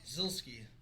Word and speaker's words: Zielski: me to ask you, how do you pronounce your last name? Zielski. Zielski. How does Babbitt say it? Zielski. Yes. Yeah. So she's like, well, that's how they say it. And then she's like, I heard like 2 other people say it in the pits. I'm like, I think they're just like having fun with it. I don't think that's how you say it. So it is Zielski.